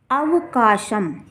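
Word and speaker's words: अवकाशं: तो इस प्रकार से जब शब्द के अंत में बिंदी होगी तब हम उसका उच्चारण माँ करेंगे, और जब बिंदी शब्द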